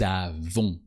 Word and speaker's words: avons: O-N-S, and the S is silent. Nous avons.